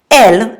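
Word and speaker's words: elle: you're referring to a masculine and singular noun L means XI all you have to do is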